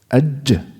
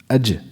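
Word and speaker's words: ج: How do you pronounce the jim? Before qalqala. Ad. Right? Focus. Ad. This is the jim. Ad. Completely closed. Right? Aj. Aj. Dal.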